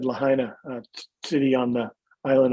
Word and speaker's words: Lahaina: like like i said lahaina a city on the island of maui if you spell it the way it's spelled voiceover will say lahina and i had to